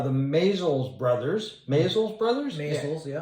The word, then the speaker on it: Maysles: Maysles, yeah. Maysles, I get that pronunciation mixed up sometimes.